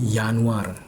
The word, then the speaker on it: Januar: Seperti ee Januari itu dalam bahasa Jerman yanwar karena ada yod atau J. Jadi, J dalam bahasa Jerman itu jadi Y ya dibacanya Yan lalu, Februari jadi Februar.